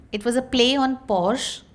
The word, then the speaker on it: Porsche: It was a play on Porsche, Porsche, and we pronounced it as for she, which was for her.